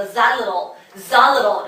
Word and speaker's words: xylitol: 예, 바로 그 자일리톨 껌인데 자일리톨이 아니라 자일리톨이 아니고 Z 발음이에요. xylitol. 물론 미국 사람들은 T 발음 더 부드럽게 해서 xylitol 이러겠죠. 어쨌든 중요한 건 우리 일단 맨 앞에 있는 오늘 X를 Z로 발음해야 된다는 거. xylitol 또는 xylitol. Z 이거라는 얘기예요.